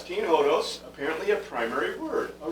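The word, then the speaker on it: ὁδός: be other vowels but the o is pronounced ho and then that's the s trailing sigma it's nothing that would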